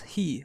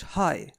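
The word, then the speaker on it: ひ: on the kun reading this kanji is pronounced as he and not as the English hi however we can use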